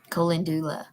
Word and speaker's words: Calendula: Colendula. Did I do close? Thank you, Miss Betty. That's how you would pronounce it.